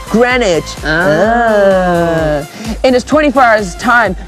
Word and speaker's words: Greenwich: of let's see it says welcome to Greenwich pronounced Greenwich it is 24 hours